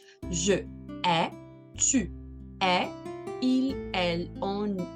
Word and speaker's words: hais: A com I dá o som E. Por isso, eu odeio, eu vou pronunciar je hais. Je hais.